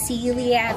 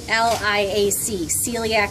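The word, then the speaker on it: coeliac: That's called the celiac artery, and it's spelled C-O-E-L-I-A-C, celiac artery.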